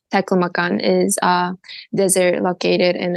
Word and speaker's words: Taklamakan: Taklamakan, if I even Yes. pronounce that properly. Yes, that's right. Could you share with Taklamakan.